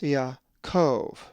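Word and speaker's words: Ἰακώβ: So this word is pronounced Yaakov.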